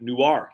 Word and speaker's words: Newark: low state income tax is much lower your pronunciation is correct Newark yeah there you go Oh California super dude